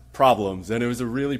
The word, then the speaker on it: PRBLMS: are PR be LM s and it's actually pronounced problems and it was a really popular musical track